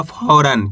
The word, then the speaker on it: फौरन: तो मिलकर बन जाएगा फौरन। क्या पढ़ेंगे? फौरन। यानी कि आपको करने के औ करके उच्चारण निकालना है। इतना आसान सा तरीका है, ओ करके नहीं पढ़ना, औ करके।